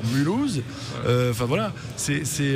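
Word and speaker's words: Mulhouse: de suite qui te qui te prononce mulouse tu sais que tu dois dire mulouse enfin voilà c'est c'est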